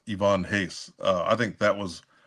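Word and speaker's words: Ivan Reis: say I used to say Ivan Reese is pronounced Ivonne Hace. Uh, I think that was uh around his run. Wait a second. Let's back up. It's pronounced what? Ivonne Hace. It's not Ivan Rice.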